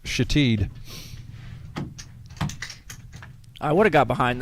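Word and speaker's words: Shithead: Well, it's spelled S-H-I-T-H-E-A-D. Ah. And cleverly pronounced Shatid.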